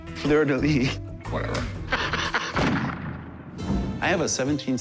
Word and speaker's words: fleur-de-lis: We have the Fer de Lys. I'm probably pronouncing that wrong. That would make it French. Fer de Lys, Fer de Lys, Fleur de lis.